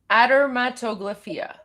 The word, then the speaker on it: adermatoglyphia: Aderatoglypho admatoia adermatoglyphia ad that's how I would pronounce I don't know if I'm correct but